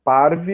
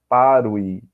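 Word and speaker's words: parvae: Por exemplo, parve eu vou ler como V. Mas não é errado, né, pronunciar parui.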